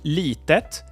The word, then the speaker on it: lite: we have the word Lite and Lite comes from litet but has lost its T and is now written and pronounced without it so it's Lite and